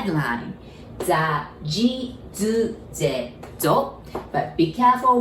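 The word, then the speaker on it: づ: It's supposed to be like D-U, which is do, but we pronounce it like Z-U, zu. So this zu, and then this zu from the Z line, they are actually exactly the same pronunciation, all right?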